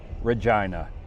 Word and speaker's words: Regina: Then onto a town called Regina. Yes, that's how they pronounce it. I was tired from the previous road trips and decided to spend two nights in Regina.